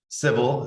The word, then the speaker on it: Civille: i'm the managing partner of civil is the is the pronunciation we've heard it all so there's a non-traditional